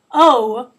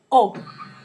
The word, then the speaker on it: O: You just need to remember not to put that W sound at the end. It's not O like we say in English, just plain O.